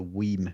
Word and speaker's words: WiiM: bought a little Gizmo called a weam mini that's spelled w i i m for anybody that might